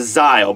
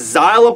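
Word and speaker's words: Szayel: people question whether you should pronounce the S as Xyle or the, just go over that altogether and just go with Xyle. But the English dub was Xyle Aporogrance, so that's where I'm going.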